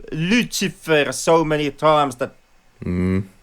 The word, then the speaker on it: Lucifer: they say they say lucifer so many times that um like god you like immediately pick a pickup like yeah yeah that's kind of the the slavic way of pronunciation lyoutsifer and that garden of